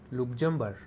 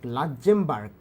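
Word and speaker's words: Luxembourg: হ US dollar লুকজেম্বার লাক্মবার্ক লাক্মবার্ক উচ্চারণ হবে এরকম 24000 ডেনমার্ক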